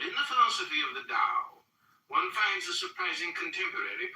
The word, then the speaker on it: Dao: But in the philosophy of the Dao, one finds a surprising contemporary perspective. The word Dao, properly pronounced Dao, has lent its name